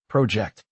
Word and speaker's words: project: The word project has stress on the first syllable, project.